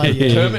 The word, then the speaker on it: Kei: but effectively it's like it's spelled Kei truck and it's just a